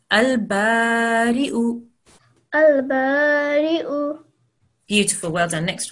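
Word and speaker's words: البارئ: Okay, remember we're not going to pronounce the ya. You have to imagine that there's no ya there. We're only pronouncing the hamza.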